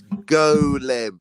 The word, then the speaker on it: golem: But no, it's golem. You know, like the Golem of Prague, an animated man.